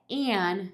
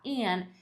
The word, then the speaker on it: an: A próxima palavra é an, e essa é a pronúncia mais oficial dela, né? Mas geralmente, na maior parte das vezes, ela não é pronunciada desse jeito. Então, esse jeito de falar, an, é como se eu estivesse enunciando a palavra.